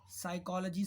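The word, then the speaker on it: psychology: एक साइकोलॉजी subject सुना होगा आपने, साइकाट्रिक, डॉक्टर भी होते हैं, साइकाट्रिक बोलते हैं उसको हम लोग, तो उसे हम क्या बोलते हैं, साइकोलॉजी, साइकोलॉजी, इसमें फिर से पी साइलेंट हुआ।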